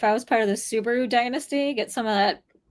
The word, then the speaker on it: Subhah: I mean, when I was younger, so it's like suba is technically how you say it.